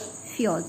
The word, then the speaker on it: fjords: These are called fjords. This is how you pronounce it.